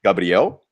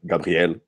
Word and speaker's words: Gabriel: You can say Gabriel, but you know, like, for instance, it's in Portuguese, it's Gabriel. Gabriel. But okay. often, for example, if I'm speaking French, I'll be like Gabriel, Right.